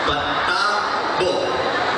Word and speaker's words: Patabo: Patabo. Okay, that's how you say it. Baka kanina I might be mispronouncing some names of the barangay. So, Barangay Patabo. That's how she said it.